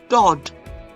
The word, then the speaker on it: Dod: And the example of the vowel O, which is the holum male, is Dod. Notice I did not pronounce the Vav at all, and it simply means uncle or beloved.